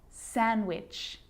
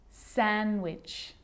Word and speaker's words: sandwich: silent to Wednesday handsome sandwich so I'm not pronouncing the D in sandwich I'm just pronouncing the consonant end sound before it try it with me one more time Wednesday handsome sandwich and a day can